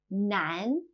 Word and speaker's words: 男: 男, male.